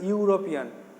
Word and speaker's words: European: Number 4, she is dash European, EUROPEAN উচ্চারণটা হচ্ছে ইউরোপিয়ান। তাহলে ইউ উচ্চারণ হচ্ছে বলে এ হবে, এ ইউরোপিয়ান, এখানে ই আছে বলে অ্যান লিখবো না।